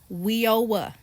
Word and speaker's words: WIOA: It's called WEOA. is spelled W io A.